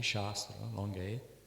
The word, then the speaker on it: Shastra: The word Shastra, pronounced properly, Shastra, long A, means in this context, science and sacred knowledge.